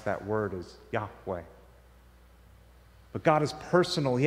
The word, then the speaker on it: Yahweh: a four-letter tetragram with no vowels it's we pronounce that as yahweh that happens when you take the the letters